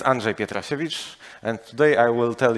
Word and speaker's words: Andrzej Pietrasiewicz: in spending my own pronouncing my name so my name is Andre pietrosevich and today I will